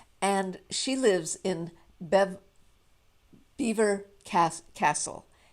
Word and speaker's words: Belvoir: she lives in bev beaver cast castle beaver castle it's spelled b-e-l-v-o-i-r so in french it would be belvoir right but the british